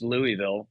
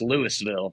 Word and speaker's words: Lewisville: we would go to Lewisville Lake and it always threw me off because it's not pronounced Louisville even though it's spelled the same way. It's Lewisville. You pronounce the S in that one.